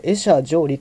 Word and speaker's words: 会者定離: と書いた、これ、会者定理と読みます。